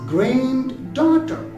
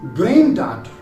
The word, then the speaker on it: granddaughter: Most people pronounce it as granddaughter. No, not at all, because D is unpronounced here. So we will pronounce it as granddaughter.